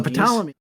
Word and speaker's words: Ptolemy: Okay, these are the Ptolemies spelled with a P in the front, right? Yeah. Right. Okay, so this was a long, like pterodactyl, right? Or ptarmigan. So the Ptolemy.